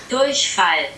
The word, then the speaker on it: Durchfall: Okay, so the first word, brace yourself, is Durchfall. So that's how I pronounce it. This is how Google pronounces it for probably more of a native sounding pronunciation. Durchfall.